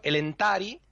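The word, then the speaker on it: Elentári: Hay otro caso en el que la penúltima sílaba es fuerte. Cuando es larga. Aunque no lleve acento, o sea, aunque no lleve consonante después, Ujú. si lleva acento, si lleva tilde, perdón, es larga. Hay poquitos casos, pero algunos son, por ejemplo, el entari, Ujú. el emire o anduril.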